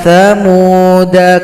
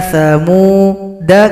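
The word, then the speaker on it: ثمودا: Dal dibaca pendek. Ala inna thamuda kafaru rabbahum. Inna thamuda kafaru. Dalnya dibaca pendek.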